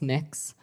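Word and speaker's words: Mx.: Cameron tell me what you're you're proposing it's pronounced mix um mix is that how you how would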